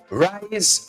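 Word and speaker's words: Ryze: were spelling it out how would you pronounce that r y z e mushroom tea you got to watch the mushroom I got to check this one out rice mushroom tea r y z e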